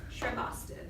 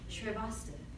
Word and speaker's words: Shrivastava: My name is pronounced Miss Shrivastava. Say it with me. Miss Shrivastava. Shrivastava. No, Shri. Bas. Toe. Now say it all together. Ready? Shrivastava.